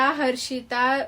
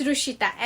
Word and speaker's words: Hrushita: रुशिता, हर्षिता, रुशिता. Actually it's रुशिता, HRUSHITA. उसमें actually वो H silent है.